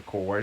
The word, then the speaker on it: Core: One is Nova Corp, CURP. The other one's Nova Core, CORE.